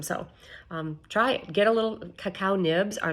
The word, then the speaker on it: cacao: cocoa is roasted chocolate a lot of people think I'm saying it wrong but I'm not so if you eat raw cacao or raw cacao nibs